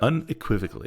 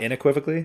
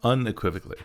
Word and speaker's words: unequivocally: two is unequivocally inequiv the correct way to pronounce that unequivocally in not INE equivocally no unequivocally okay okay leave all